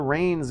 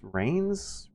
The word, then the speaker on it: Reigns: It rhymes. I also got to clarify that it's not spelled the way it sounds. Rains as in rain you put on a horse instead of a rain that you try to rush indoors